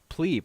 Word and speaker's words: pleb: is it is it it's plebe right because it's a contraction of plebeian and that it's pronounced plebeian right but yeah when I